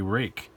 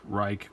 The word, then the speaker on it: Ruike: knife review for you today we have the rake Pete 801 SF as you can see right